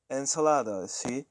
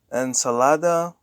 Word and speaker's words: ensalada: stress if you agree when there is no accent mark and a word ends in a vowel so an OS the emphasis goes to the second to last syllable so we have some examples here and Salada is another ensalada